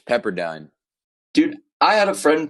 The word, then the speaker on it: Pepperdine: three Texas number five pepperine uh Pepperdine they'll get you for that one it's Pepperdine dude I had a